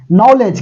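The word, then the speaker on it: knowledge: आ रही है बात नॉलेज के एन O double L ई डी जी नॉलेज के साइलेंट है इंग्लिश का पेपर हो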